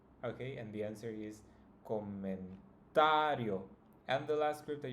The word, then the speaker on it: comentario: In this case, it's always going to be the second to last. So if we count starting from the end, this would be the first syllable, yo, and the second one would be sa. So that's the one that should be pronounced the strongest.